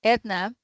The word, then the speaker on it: Eithne: Edna that's how we pronounce her name uh from Galway in the west of Ireland with 35 years experience and the background in computer science.